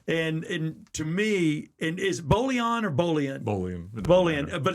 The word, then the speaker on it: Bolian: It would scratch Bolian's soul. It would. And to me, and is Bolian or Bolian? Bolian, but it's Bolian.